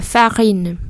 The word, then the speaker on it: farine: Fa chứ không farine. Mà là fa. Rồi in. La farine. La fraise. Un œuf, des œufs, la farine.